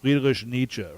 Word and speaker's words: Friedrich Nietzsche: If you look at a lot of the existential writers, like Nietzsche, Friedrich Nietzsche. Actually, it's pronounced Friedrich Nietzsche, right?